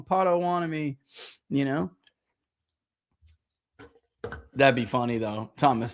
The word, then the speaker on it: Potawatomi: They were really waiting on Lyon to see if they can get close enough to have Lyon and Pato Wato.